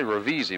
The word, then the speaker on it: Ravisi: I say Ravisi because it looks just like it, but it's pronounced Ravisi.